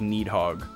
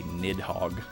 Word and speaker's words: Nidhogg: Yeah, maybe it is pronounced like Needhog. I forget what culture the Nidhogg fable comes from, but it's reflexive for me to say Nidhogg because it's like funny. But maybe it is Needhogg.